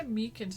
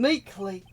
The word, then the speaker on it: Meekins: Actually, Officer Meekins at detention told us even. Oh, that poor little doggy. Poor guy. I keep getting his name wrong and calling him Meekly.